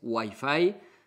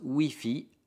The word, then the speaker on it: Wi-Fi: Es diferente, bien diferente de la pronunciación en inglés que es Wi-Fi. Nosotros Wi-Fi, la I se dice la I, Wi-Fi.